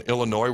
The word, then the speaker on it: Illinois: up the spread on Illinois where the S is silent versus Penn State this